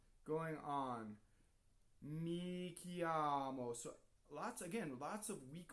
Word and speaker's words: chiamo: Notice that we have CHI, and the H is there to make the C hard, right? And the I is just a semivowel.